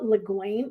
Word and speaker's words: Le Guin: this is by ursula leguin le guin i think is how you pronounce it and this is her